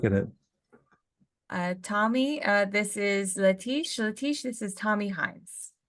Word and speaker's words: Letiche: Letiche, sir. It's French Cajun.